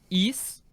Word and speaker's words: Ys: Well, just to be clear, it's spelled YS. Is that correct? YS, yes. YS. All right, we've added East 3 to the list.